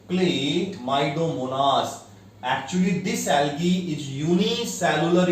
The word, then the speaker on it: Chlamydomonas: What is the pronunciation? Chlamydomonas.